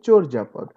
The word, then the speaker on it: চর্যাপদ: নট চর্যাপদ, চর্যাপদ, উচ্চারণটা হবে চর্যাপদ।